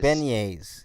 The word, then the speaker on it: beignets: shrimp regularly yeah it's it's really good man beignets yeah that's how you say it yeah like you should protect my pronunciations mine was better damn it i like